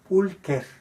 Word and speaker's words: pulcher: como ejemplo, adjetivos como pulcher, pulcra, pulcrum, hermoso. Ahí tenemos también, el masculino es pulcher. Veamos cómo se escribe con che, que en latín se pronuncia como k. Pulcher.